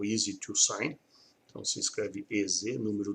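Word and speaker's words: EZ2Sign: Aí nós temos a parte do software de assinatura eletrônica, que é o Easy to Sign. Então se escreve EZ, número 2, Sign, ou em inglês a Easy to, né?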